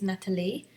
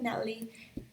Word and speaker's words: Natalie: And by the way, the right way to say my name is Natalie, but that's just fine. You can call me Natalie.